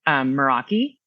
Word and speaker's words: meraki: So it's actually a Greek word. And technically it's properly, it's pronounced Meraki.